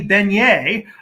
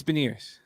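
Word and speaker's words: Beniers: in the 2021 draft maddie beignet i am assuming that's the uh the way you pronounce it it's veneers oh yeah is i every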